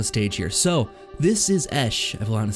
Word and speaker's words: Eshe: So, this is Eshe.